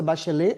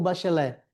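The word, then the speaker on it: Bachelet: A pronúncia é bachelê ou bachelé? Bachelé, porque não é francês, né? Se fosse francês é bachelê, né?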